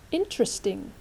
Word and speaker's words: interesting: The first one, interesting. Interesting. Các bạn hãy chú ý là trọng âm là in, okay? Not interesting, không phải. Interesting.